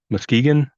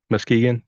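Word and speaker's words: Muskegon: had actually occurred in oh how do you pronounce that mus Muskegan Muskegan thank you uh where her mother's family lived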